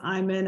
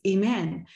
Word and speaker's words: Iman: sometimes you know so some people might think that my name for example is I'm in and I've had all different sorts of things but then I can record the way to say my name on LinkedIn and that way people before they even connect with me or meet me or interview me would know oh the correct way to say her name is Iman and then what you